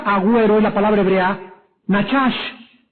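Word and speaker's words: נחש: hebreo la palabra Agüero es la palabra hebrea nachash n a c h a s h nachash y significa pronunciar encantamientos mágicos o hechicerías también aquí la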